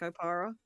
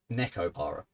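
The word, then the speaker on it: Nekopara: Is that not how you pronounce that? Nico Para? Neko Para. Yeah, as in cat.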